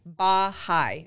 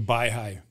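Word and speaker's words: Baihai: okay it's called the I'm going to pronounce it wrong by by high I think it's b a i h a i Resort the by high yeah look it up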